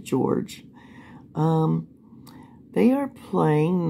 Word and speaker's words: Jorge: her boyfriend George Torres even though it's j-o-r-g-e you think it would be Jorge but they pronounce it George um they are playing